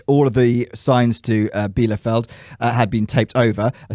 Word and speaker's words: Bielefeld: Bielefeld. Good pronunciation.